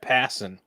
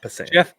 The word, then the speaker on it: Passan: So Jeff Passan, who like passing a basketball. That's how you say his name, in case you didn't know. Not Passan.